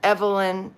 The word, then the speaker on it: Evelyn: Is it pronounced Evelyn? It's like evangelist, Evelyn.